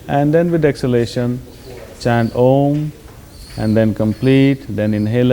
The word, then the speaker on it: Om: But for instance, we will practice this mantra chanting with using the sound of Om, which is 3 syllables, A, U and Ma.